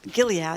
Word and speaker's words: Gilead: maid's tale reading to women citizens from Gilead Gilead is that's how you say it their Bible